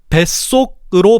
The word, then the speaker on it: 뱃속: 그래서 사이소리를 적용시켜서 배속이 아니라 뱃속이라고 발음하는 거지.